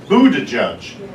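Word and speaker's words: Buttigieg: was just so refreshing his name is buddha judge and i think it's spelt but don't quote me on this b-u-b g-i-e-g i mean how do you get judge out of g-i-e-g i don't know anyway i just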